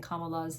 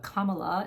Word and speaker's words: Kamala: that I've been pronouncing kamala's name wrong so I'm trying to make an effort to pronounce it correctly I still don't like her but Kamala instead of Kamala um but I'm going